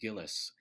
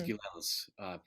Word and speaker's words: Gilels: His manager always called him Giles, but it was Gilels.